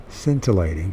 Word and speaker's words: scintillating: First of all, let's make sure I pronounce it right. Scintillating.